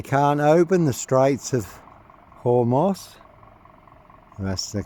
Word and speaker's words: Hormuz: So they can't open the straits of Hormuz. That's the correct pronunciation and it's going to be crippling for the west, for the UK.